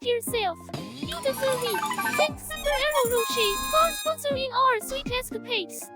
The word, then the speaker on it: Ferrero Rocher: The name is of Italian origin, and in Italian the CH is pronounced like K, but since it's international brand now, most people prefer the sh sound.